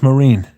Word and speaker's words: Mesrine: You ever heard of Jacques Marine? It's spelled Mesrine.